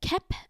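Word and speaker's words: Kelp: Moving on to episode 5, Kep with the silent L and Dr.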